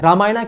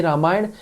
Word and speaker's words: रामायण: अंग्रेज इसे रामायणा पढ़ते होंगे, लेकिन हम भी वही क्यों करें? क्यों इसकी स्पेलिंग रामायण नहीं की जा सकती, जबकि रामानंद सागर वाली रामायण की इंग्लिश स्पेलिंग रामायण ही हुआ करती थी, रामायणा नहीं।